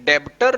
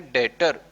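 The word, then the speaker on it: debtor: Basically ये डेब्टर लगता है लेकिन यहाँ पे बी साइलेंट है तो हम इसको बोलेंगे डेटर।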